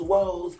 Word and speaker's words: Woz: first i was like was it weird or woes but it's woes what that pretty bad